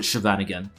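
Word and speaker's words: Scheveningen: it something else but here in america we pronounce it shivan again can my man is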